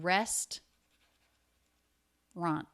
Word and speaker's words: restaurant: again with the word restaurant just like the word probably restaurant you might hear this as three syllables but most native speakers will make it to rest run restaurant try that restaurant restaurant